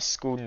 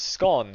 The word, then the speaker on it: scone: I don't know why you'd call it a scone though. Like, how do you get the pronunciation on the O? You've got the word gone. That's the same as scone, surely.